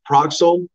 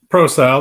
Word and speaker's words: Prosal: Is it Proxel up on stage here? Yeah, is that how you say your last name? Proscal? Prosal. The C is silent.